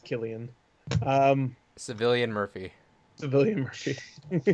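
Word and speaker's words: Cillian: all right i think i'm pretty sure it's pronounced killian um civilian murphy civilian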